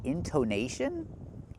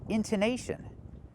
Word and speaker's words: intonation: Don't make the long o, make the short uh like cup and up, into intonation.